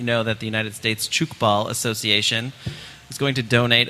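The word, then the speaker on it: Tchoukball: to us if you if you would what chny ball is yes so chuk ball and I want to talk about because you're mispronouncing Johnny just like c h o t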